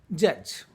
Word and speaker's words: judge: The 3 letters are D, G, E. That makes the sound J. And the word is pronounced as judge.